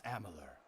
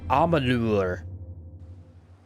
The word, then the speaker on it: Amalur: travel the touring circuit performing for crowds across Amalor. You said the name wrong. Unexpected. It's Amalure.